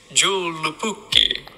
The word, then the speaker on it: joulupukki: have to go ahead and look up this pronunciation. Hold on, because I'm not even gonna mess that up. In Finnish, joulupukki.